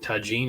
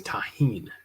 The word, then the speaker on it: tagine: It's not tagine, it's tahine.